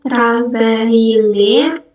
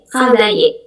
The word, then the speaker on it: travailler: Ya, travailler. Kalau ada double L, itu kita bacanya Y.